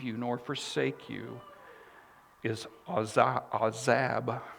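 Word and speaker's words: azab: nor forsake you is a zab i think is how you say it a w z a b is the transliteration so he's not going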